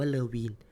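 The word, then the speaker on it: Levene: leen L V n ผม อ่าน ว่า เลวีน แต่ ว่า บาง ตำรา อาจ จะ อ่าน ว่า เลว่ อัน นี้ ก็ ได้ แล้ว แต่ ครับ ว่า คุณ สะดวก ค่า ไหน คุณ ก็ อ่าน แบบ นั้น แล้ว กัน นะ ครับ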